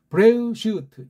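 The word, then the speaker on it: בראשית: 원문에 대해서는 도리가 없어요 브이 발음을 또 하잖아요 으라고 해야 돼 브뢰 아무거 없던 건 요런 점이 아래 위에 있는 거예요 브뢰 으 쉬 또 도도 없잖아요 응 타도 트 제일 마지막엔 일부러 빼 그래서 브레 슈트 이렇게 해야 이게 우리식으로 정음의 원리로 가장 정확한 거예요 서구 아이들이 만들어놓 가짜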